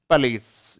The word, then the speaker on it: police: ये इसका सही प्रोनाउंसिएशन होता है। दिख रहा है आपको बोर्ड पे क्या लिखा हुआ है, पुलिस लिखा हुआ है, यानी पू पो वगैरह कुछ नहीं होते हैं, पे ए ली और से, पुलिस होता है इसका।